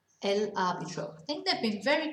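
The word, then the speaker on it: árbitro: arbitrary okay because of the stress on the a so that's your referee el arbitro i think they've been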